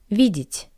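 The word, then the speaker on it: видит: to see vi v since the wall yeah is unstressed I pronounce it as e vidit vidit to see vidit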